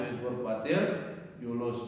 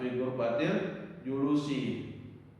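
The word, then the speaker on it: في غرفة الجلوس: Bacanya fi ghurfatil julus, bukan fi ghurfatil julusi.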